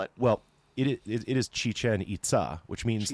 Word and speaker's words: Chichen Itza: most touristed Maya site and the most often mispronounced name of any Maya ruin site. what do people call it? Well, it is Chichen Itza, which means like Chichen the little well or cenote of the Itza people.